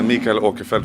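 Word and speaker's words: Mikael Åkerfeldt: I am a mica aquifer which is the Swedish way to pronounce my name yeah and I'm the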